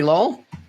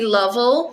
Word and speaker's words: Lovell: Is it under Lowell? It's under Lovell. Yes. Lovell. So sorry, I've got your name wrong.